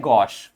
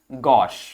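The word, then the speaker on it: gauche: तो ये आपके सामने एक परफेक्ट एग्जाम्पल है कि फ्रेंच भाषा का शब्द अंग्रेजी में लिया गया है, और इसको हम पढ़ते हैं गॉश। क्या पढ़ते हैं? गॉश।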